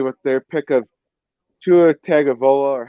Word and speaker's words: Tagovailoa: off with Miami with their pick of Tua Tagovailoa, or how you want to pronounce his name, Tagovailoa or Oh, Tua Wailoa. Tagovailoa.